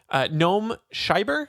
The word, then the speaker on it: Noam Scheiber: And this one comes from Noam Scheiber. Is that how you pronounce that?